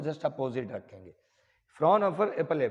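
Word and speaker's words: Fraunhofer: एच नहीं है शायद इनकी स्पेलिंग में, है ना, इनकी स्पेलिंग में एच नहीं है, वो आप देख लेना। दूसरा रहेगा जिसे बोलेंगे फ्रॉनहोफर, दोनों में थोड़ा थोड़ा अंतर है, अंतर तो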